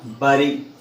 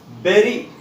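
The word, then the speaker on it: bury: So my dear students or my dear friends, remember B-U-R-Y pronunciation is not bari, it's berry.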